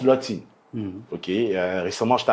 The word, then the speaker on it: Lotin: Oui, ça se prononce des deux manières, mais ça tombe bien que vous le prononciez comme ça parce que normalement ça se prononce Lotin.